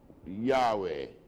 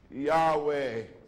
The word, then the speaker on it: Yahweh: the Hebrew is y h b h we pronounce it Yahweh how does it spell now why a w e y that might not perfect anyhow right it's pronounced Yahweh we call it Jehovah now how would you